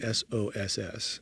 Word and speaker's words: SOSS: app, but it's spelled s o s s. So, even though it's SOSS mushroom sounds like the sauce that you eat, it's s o s